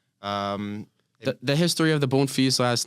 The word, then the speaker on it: Bonfils: look at it and it is a French last name um the history of the bone fe's last name the French